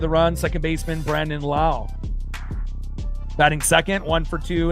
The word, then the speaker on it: Lowe: these guys besides maybe Lowe, you know, obviously name normally spelled L O W E, but he's the only one in baseball that pronounces it Lowe, not Low.